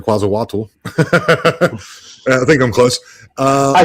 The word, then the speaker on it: Quetzalcoatl: I'm see if I hope I pronounce this right. Is it Quetzalcoatl? Is? Do you know who that is? Quetzalcoatl.